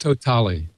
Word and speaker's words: TOTALe: So I looked it up, and in one of the press releases, it says we pronounce it Totale.